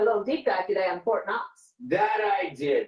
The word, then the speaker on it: Knox: What you did a little deep dive today on Fort Knox. That I did. The interesting thing about Fort Knox is that the K is silent.